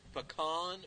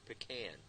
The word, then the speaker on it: pecan: Is it pecan or pecan? Depends Or on what it is. pecan? Depends on what it is. And which syllable you put the emphasis? Right. If you're down south, living in eastern Kentucky, it's pecan pie. Pecan. And we say around here pecan.